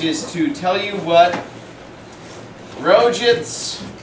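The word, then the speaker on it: Roget: to tell you what rojits is that how you pronounce it it's Rogers let's actually I should be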